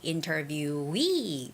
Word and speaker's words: interviewee: word employee you know whenever there are two e connected together that's where the stress goes it's employee interviewee retire okay so employee ID